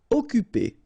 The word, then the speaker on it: occuper: Occuper. You don't pronounce the double C here, so it's really like occuper.